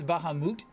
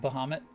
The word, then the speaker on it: Bahamut: It's Bahamut, not Bahamut. But I've always said Bahamut, and that sounds better to me. So, I say it wrong, too.